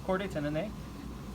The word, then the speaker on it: chordae tendineae: These are called chordae tendineae or chordae tendineae, however you want to pronounce it. But it's chordae tendineae, right?